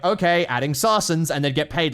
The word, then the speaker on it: Saracen: That's it, sarsen. You know, we use sarsens or whatever. And then the BIS would just be like, okay, adding sarsens, and they'd get paid like $20,000 to do it.